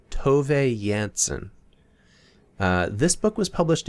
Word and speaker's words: Tove Jansson: on the internet that you pronounce the author's name as to yansen uh this book was